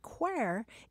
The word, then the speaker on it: quare: And what's really cool about this word quare is that it's an Irish pronunciation of the word queer.